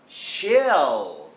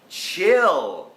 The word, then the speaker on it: chill: for you Yes โอเค ถ้า มี ตัว L ตอน ท้าย คำ มัน ต้อง ออก เสียง นะ ครับ ถ้า เป็น ภาษา ไทย